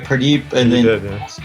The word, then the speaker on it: Purdeep: Purdeep, and then last name?